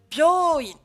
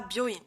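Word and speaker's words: びょういん: Et je vous ai également mis byoin, et pas byoin. Byoin. Donc je répète, Ohayo, kino, byoin, byoin. Ces 3 mots seront allongés avec un U.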